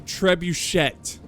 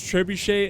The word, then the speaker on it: trebuchet: Trebuchett. Ever. Have you ever Have you ever heard anyone pronounce trebuche as trebuchet? Yeah. Shoot the trebuchet. Oh. Ah. It's trebuche.